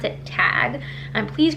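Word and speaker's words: Tadhg: have figured in and I believe this name is pronounced tag it's an Irish name it's about ta D G H I think you pronounce it tag and please correct me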